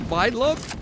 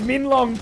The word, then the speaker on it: Minlong: I'm pretty sure is this Mindlong? You call it It's like literally Mindlong or something. no, it's Minlong per the pronunciation sheet.